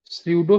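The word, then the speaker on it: pseudo: धर्म निरपेक्षता ठीक है भारतीय धर्म विशेषता को सूडो सेकुलरिज्म कहा जाता है सूडो सेकुलरिज्म का स्पेलिंग होता है पी एस ई यू डी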